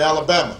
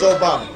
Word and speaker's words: Obama: name Barack Obama although they wouldn't say it right and they' call me Alabama or they'd call me your mama and I'd have to explain i' have to explain my name's Obama and my father was